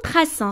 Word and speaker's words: traçons: Nous traçons. Regardez, il faut écrire la cédille. Si on n'écrit pas la cédille, ça va prononcer nous traquons.